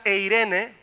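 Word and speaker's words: εἰρήνη: Viene de una palabra que se llama eiro, y la palabra eiro produce la palabra eirene, que significa paz.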